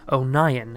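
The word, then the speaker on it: O'Nion: introduces himself as hunter Oh nyan emphasizing that his last name is pronounced own ayan as he was called the onion in school learning that hunter is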